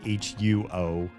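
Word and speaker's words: 火: The pinyin would be like HUO with like a little dip diacritical over the O, which would be pronounced huo, which means fire in Mandarin, right?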